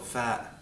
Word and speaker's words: ف: It's called fa, fa. We have a f sound in English, so it shouldn't be hard for you to pronounce.